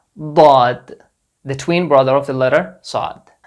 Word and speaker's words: ض: So the counterpart of the letter Dhaad doesn't exist in English, but it's a sound between Z and D. Dhaad, Dhaad. Not Zad, not Dhaad, between these two letters.